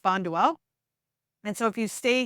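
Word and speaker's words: Bonduel: Bay so you'll see that here it is pronounced bondell and so if you stay here through here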